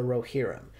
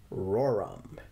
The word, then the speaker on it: Rohirrim: of the Rings movie War of the rerum or as a lady at my work pronounced it roram time will tell if